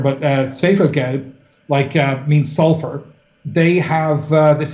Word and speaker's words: Schwefelgelb: Like you take an artist like, there's a Berlin act called, I'll pronounce it as German, but Schwefelgelb, means sulfur.